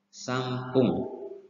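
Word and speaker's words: さんぷん: 3 menit sampung. Tulisannya san tapi dilafalkan m. Sampung.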